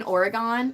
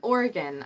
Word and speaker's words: Oregon: like oh you mean Oregon and I was like no I mean Oregon I would know because I'm from Oregon it's it's pronounced the same way as like the organs in your body it's organ that's how